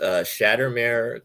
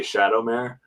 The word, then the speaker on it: Shattermare: And so your company is Shattermare Comics.